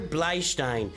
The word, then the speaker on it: Bleistein: the way that Tyler Bleistein, or Tyler Bleistein, if we pronounce it properly, it would be Taylor Bleistein. That would be like a stone that is used as a writing utensil.